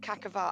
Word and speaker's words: Quaquaval: So it's like Quaquaval. Yeah. Quaquaval. Or Quaquaval, depending how you want to say it. Or Cacaval. I think Cacaval is how I heard it said, but yeah.